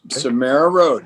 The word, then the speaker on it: SomeraRoad: Is it SomeraRoad? Is that the correct way to say it? Yes, SomeraRoad.